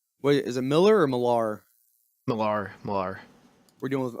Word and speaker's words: Millar: Millar. I don't know if you're asking me about pronunciation or 2 different people. 2 different people. It's Millar. Okay.